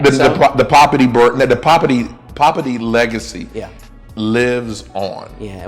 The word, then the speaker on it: Poppiti: Poppiti. That's it, Poppiti.